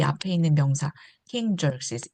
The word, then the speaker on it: Xerxes: 스펠링하고 발음이 좀 어려워 보이죠? Z 발음입니다. Xerxes.